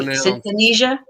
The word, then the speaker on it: synesthesia: Pronounce Synthesia? Wait, synesthesia?